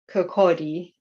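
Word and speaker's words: Kirkcaldy: early life you were born and lived in kokodi an industrial town in phife i hope i'm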